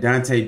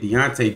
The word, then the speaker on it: Dante: Why they gotta say his name like Dante Dorsey? That's not how you say it. Deontay Dorsey, man.